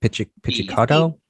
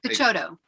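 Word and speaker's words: Picciotto: I don't know how to pronounce his name. Pizzicato. No, I know it's Guy, but it's a Pizzicato, his Oh, I last don't name? know. Yeah, Pichotto.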